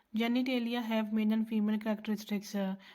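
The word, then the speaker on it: genitalia: जेनिटेलिया have male and female characteristics, pronounce जेनेटेलिया।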